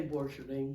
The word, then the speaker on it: Borcherding: I pronounce it Borcherding. Now, Brad said Borcherding. How do you pronounce it, Lisa? I say Borcherding.